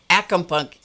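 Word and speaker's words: ackumpucky: was a plumbing term that was pronounced that was spelled differently it was spelled a-c-k-u-m-p-u-c-k-y and she pronounced it acumpucky and it was like goo or junk on the threads of a pipe and I thought that's where I've heard it except I've heard it as acompunk acumpunky have any of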